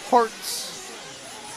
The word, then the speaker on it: Herts: But I think if you search for H E R Ts, it's pronounced hearts, but it's looks like Herz.